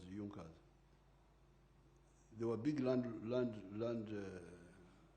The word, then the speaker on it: Junker: It is written junkas but they pronounced it as junkas.